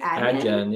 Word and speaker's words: Adyen: What do you guys think of eBay switching to Adyen for payments? Will it be good or bad? Is that how you pronounce it? Adyen, yeah.